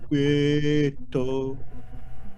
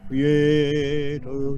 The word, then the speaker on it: quieto: Make sure you don't give me a double T, not quieto, quieto, just a single T, and the stress is on the quie, on the K, quieto, quieto.